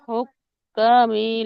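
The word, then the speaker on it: الحكام: ilal hukami litakulu fariqam min amwalin nas.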